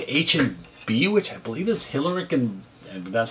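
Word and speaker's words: Hillerich: They say H&B, which I believe is Hillerick, and that's how it's pronounced, and Bradsby, if they made these.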